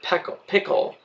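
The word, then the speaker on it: Pickell: 4 Dr Pickle actually his name was Dr pick pickle with the accent on the second syllable but that wasn't why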